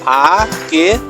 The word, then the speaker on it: আঁকে: আঁকে বানানটি খেয়াল করে, এখানে একটা চন্দ্রবিন্দু ইউজ হয়েছে, আ কে সাথে চন্দ্রবিন্দু থাকবে, কেমন? সরায়া চন্দ্রবিন্দু ক একার কে, আ কে। সরায়ার উচ্চারণ আ, আর চন্দ্রবিন্দু দিলে আ, কেমন? একটু নাকে লাগে, আঁকে।